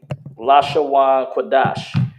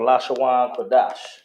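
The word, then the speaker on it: לשון הקודש: over to ancient hebrew the la shawn quadash which is how you say ancient hebrew oh which is how you say hebrew all right it's called la shawan ka dash now one thing about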